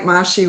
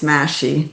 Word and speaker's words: Mahshie: It's actually looks like Mashi with M A H S H I E, but it's Mashy. Think mashed potatoes.